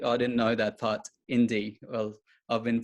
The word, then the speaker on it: IN-D: that's cool see i didn't know that part indy well i've been pronouncing your platform's name wrong the whole time